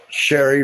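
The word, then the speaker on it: Cheri: Her best friend, Sherry Reed. Her name is spelled C H E R I, just like the adult men's magazine. but annunciated a different way.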